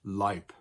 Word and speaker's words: Leib: or E-I in it, and they're always pronounced like an I. And here are some examples. Der Leib, der Mai. Das Ei, der Leib. So these two words are both pronounced Leib, but depending on how